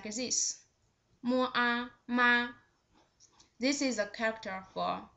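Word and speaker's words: 马: The third one with the third tone,Its pronunciation is just like this. Mo a ma. Ma. This is a character for ma. It means horse.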